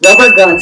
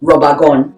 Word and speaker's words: rubber gun: good nanga boko kids rubber gun slash catapult that's the american pronunciation cameroonian pronunciation on the other hand robagon that's a slingshot cover